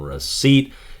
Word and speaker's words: receipt: why i am terminating receipt it is because i hate the spelling um the silent p is just silly to me i don't want it